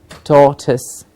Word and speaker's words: tortoise: doctor or toys but tortoise tortoise tur sound to be heard clearly tortoise yes sir hearing